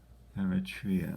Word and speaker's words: Eritrea: Eritrea, I believe is how you say it.